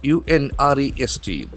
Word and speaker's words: unrest: U N R E S T. Unrest will act as a noun. Unrest. Unrest. Action for the second syllable.